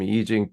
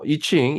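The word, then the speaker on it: Yijing: 정역 그랬어 이게 지금 이직은 미국에서 이칭 이층으로 그동안 알아 알려져 왔고 이제 원래 그 이층은 이제 차이니스 발음이 정확하게 약간 그 피인 시스템을 그깐 그 웨이드 가스라는 그 이전에 그 체계로 했기 때문에 그 발음이 이층이 좀 약간 거리가 있지 어 그 본래 발음하고 그래서 이징 보통 요즘 다시 이징 쓰는데 이렇게 쓰는데 그다음에 이징의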